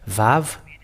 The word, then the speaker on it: vav: we have found there VAV and the sound the pronunciation of it is V it is you're bigger